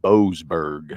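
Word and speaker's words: Boasberg: Boseberg. Boseberg.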